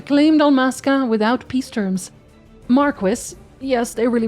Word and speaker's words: Marquis: Marquis, yes, they really pronounce it like that in the game.